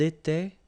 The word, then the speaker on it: étaient: Était, était, était. And the last one, était. So you pronounce them the same way. J'étais, tu étais, il était, elle était. Nous étions, vous étiez, ils étaient, elles étaient.